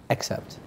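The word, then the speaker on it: excerpt: And I couldn't pronounce it properly, although it's phonetically it's all over the place because it's got an E-X-C-E-R-P-T, but apparently it's pronounced accept.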